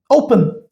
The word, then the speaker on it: open: As we have verb open. Open. My stress is on O.